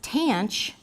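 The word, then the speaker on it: tanh: is tan of X you basically pronounce all of these by just putting a Chu at the end of the regular trig name and as you might guess tan CH is just cinch over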